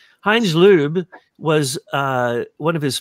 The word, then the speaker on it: Loeb: that kissinger good old heinz loeb we're pronouncing it in the german way liub heinz lube was uh one of